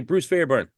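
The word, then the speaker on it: Bruce Fairbairn: Producer, I always say his name wrong. I'm gonna say Bruce Fairburn, if I say it right.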